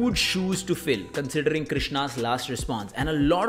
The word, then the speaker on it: Krishna: it already it is Maharani by Krishna so Krishna that's how you say it okay number seven